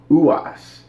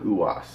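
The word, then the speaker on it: Ruas: I guess the R is silent, and they keep calling him Uwas.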